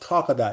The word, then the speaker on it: Talkadot: And here's what Talkadot, and it's just like it sounds, Talk a dot. I don't know why he came up with that name, but he says because it rhymes with a lot.